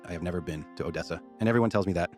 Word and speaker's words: Odessa: You know, what's in Odessa?